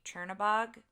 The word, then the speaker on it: Chernabog: And so the Headless Horseman is in the group with, I never say his name right, Chernabog.